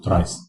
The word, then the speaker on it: trie: Now we move to tries tries pronounce Tri is a tree that